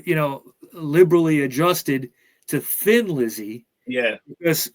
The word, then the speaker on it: Thin Lizzy: Thin Lizzy yeah because if you have an Irish accent you're kind of say Thin Lizzy when you so they they said let's add an H to it so people say it right okay so for some ear some of their early gigs uh the band were mistakenly promoted as Tin Lizzy or tin like Li